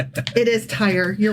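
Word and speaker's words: Tyre: But here that you're referring to is actually pronounced tire. Oh, I always get that wrong. Yeah, tire.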